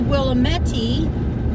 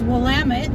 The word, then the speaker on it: Willamette: in the Willamette Valley not the Willamette II like I've heard it pronounced its Willamette just in case anybody's